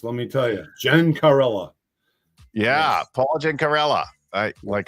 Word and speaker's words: Gencarella: Those Italian names are tough to pronounce, let me tell you. Gencarella.